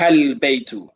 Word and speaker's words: البيت: one occasion, Anwar, is you're not pronouncing the alif and the lam. So for example, I just heard, I believe, وذلك بيت. I'm not hearing ذلك البيت.